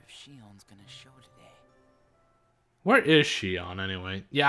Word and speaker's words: Xion: I wonder if Shion's gonna Where is Shion anyway? Yeah, I like to pronounce it Shion, not Shion. It just bothers me slightly.